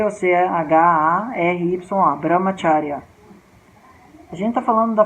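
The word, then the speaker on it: ब्रह्मचर्य: Mas em sânscrito o som do C tem o som do Ch, que nem em italiano. Aí C ou C-H-A-R-Y-A, Brahmacharya.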